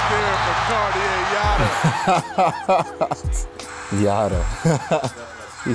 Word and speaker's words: Cartier: You can see it on their faces when Cartier Jara working against Cartier Diarra. Cartier Jara. Jara the steal. Exclamation point right there for Cartier Jara.